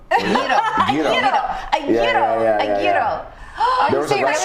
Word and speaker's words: gyro: How do you pronounce him? Not a Giro. Gyro.